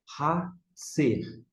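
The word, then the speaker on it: חָצֵר: Hatser. Hatser. Hatser é a pronúncia última, que significa o quê?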